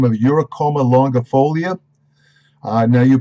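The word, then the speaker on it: Eurycoma longifolia: It has a botanical name of Uricoma longifolia. Now, you pronunciation specialists who always criticize me, you can look it up.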